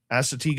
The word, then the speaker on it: Assateague: We agreed to visit Assateague Island. I hope I pronounced that right. That's right. Assateague Island, a barrier island and wildlife refuge.